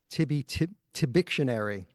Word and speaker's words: Tibictionary: Tibictionary. Did I pronounce that right?